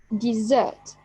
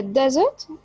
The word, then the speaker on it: desert: The first one here, it's a verb, so the stress will be on the second syllable, desert, desert. And here it's a noun, so the stress will be on the first syllable.